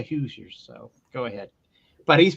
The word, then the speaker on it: Hoosiers: playing does he play he played for the Hauser if I think that's how you pronounced it is it Indiana I think it's Indiana it's the hoosers oh okay so I didn't pronounce that wrong thank you for that you're fine but it's that yes they call they pronounce it the Hoosiers so go ahead but